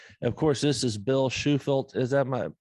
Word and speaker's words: Shufelt: old podcast anyway of course this is bill schufeld is that my pronouncing that right yep now that oh man